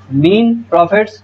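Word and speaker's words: mesne profits: मीन्स प्रॉफिट of property मीन्स, अब ये मीन है, मीन एस साइलेंट है इसमें, ठीक है जी। मीन प्रॉफिट्स of property मीन्स मतलब this प्रॉफिट which the person in wrongful possession of such a property.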